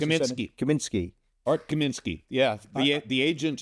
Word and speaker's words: Kaminsky: Did I pronounce it? Kaminsky.